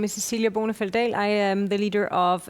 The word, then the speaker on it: Cecilia Bonefeld-Dahl: Swedish-speaking Finn, I have to practice my Danish pronunciation. Cecilia Bonefeld-Dahl.